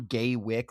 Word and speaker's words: Gaywyck: We're on Gay Wick, like with a space between it, like it's John Wick.